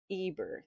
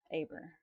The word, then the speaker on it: Eber: Abraham, Abram and Eber. They say Eber but it's Aber.